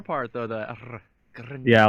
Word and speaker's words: Grnja: I'm of Distant, and my second name is pronounced Grnja. So like the J is actually silent, and you read the N like the N in piñata. So it's like Grnja.